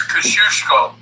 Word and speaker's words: Kosciuszko: It's Kosciuszko. Kosciuszko, okay, all right. Kosciuszko. Millen could have pronounced that.